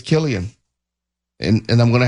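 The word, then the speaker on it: Cillian: I I just assumed it was Silian. I've never heard him correct someone and say it's Killian. I was going to say I've never actually heard anyone really pronounce his name in general, right? So it's it's it's understandable that you would just think Silian, but I guess it's Killian and and I'm going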